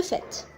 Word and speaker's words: fait: s'il vous plaît c'est il s'écrit fait avec T mais il se prononce le fait d'accord le fait de